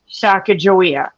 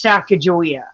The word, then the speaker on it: Sacagawea: name is Chicago yeah because they use the Mandan pronunciation but anywhere else you see her name even like on the coins and stuff it's Sacagawea because that was her appropriate name for her tribe her name yes Sacagawea